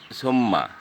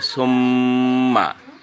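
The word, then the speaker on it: ثُمَّ: তারপরে আরেকটা শব্দ আছে সুম্মা। এখন কেউ যদি বলে সুম্মা, তো এই গুণনা হলো না, আপনার উচ্চারণ হতে হবে সুম্মা।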